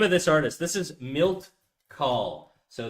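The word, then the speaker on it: Milt Kahl: This is Milt Call. So, it's going to be I'll spell it out for you.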